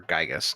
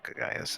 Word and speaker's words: Gygas: Or Gygas, not Gaius. That's what I used to call him when I didn't know how to pronounce his name as a child. Gigagas.